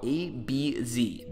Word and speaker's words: ABeeZee: Now I'm using a font called ABZ. That's spelled ABEEZEE.